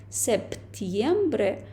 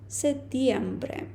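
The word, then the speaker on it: septiembre: листопад і десмбре грудень стосовно септембре вересня ми бачимо тут літеру п але іспанцю ну взагалі носію іспанської мови інколи дуже складно вимовити дві приголосні підряд так тобто вони не кажуть септємбре А вони пропускають ось цю п сетємбре Ну і так звичайно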